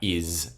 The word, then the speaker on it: is: way to be like oh sometimes the s makes its second sound so is and what so it's still fine we spell it with an s it's not spelt with a z so that introduction even